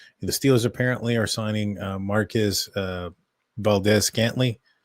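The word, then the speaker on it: Marquez Valdes-Scantling: The Steelers apparently are signing Marquez Valdez-Scantling. I think I said that right. Maybe it's Scantling Valdez. Yeah, you said it right.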